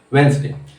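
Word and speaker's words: Wednesday: उसे प्रोनाउंसिएशन कहते हैं वेंसडे। हैंडसम को हैंडसम। उसी तरह किसी की जिंदगी में, जैसे कि हैंडसम में डी साइलेंट है, वेंसडे में डी साइलेंट है।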